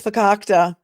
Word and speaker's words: fakakta: probably different spellings of it but it is fakakta here is the probable cause affidavit filed on